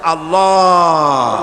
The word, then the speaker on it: আল্লাহ: আল্লাহ পাকের উচ্চারণটা হচ্ছে আল্লাহ পাকের নাম হচ্ছে আল্লাহ মুখটা একটু গোল হয়ে যাবে বলেন আল্লাহ আল্লাহ পৃথিবীতে